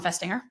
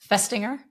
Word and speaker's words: Festinger: Let's focus on Festinger. He's a psychologist at the University of Minnesota at the time. What What word are you saying there? Psychologist. No, I got that one. Finger. Say it again. Festinger.